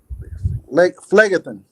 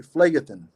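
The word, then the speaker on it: Phlegethon: Phlegathon. Could that be it? Phlegathon. Phleg, it's like because it's Greek, so it's PH is an F. Yeah. Oh, okay. Phlegathon.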